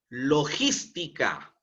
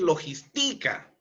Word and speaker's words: logística: palabras esdrújulas se tildan logística listica no es logistica no ni logistica sio es logística es una palabra esdrújula